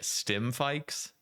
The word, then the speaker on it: Stimfikes: One of them I might pronounce this incorrectly. Stimfikes. Is that how you pronounce it?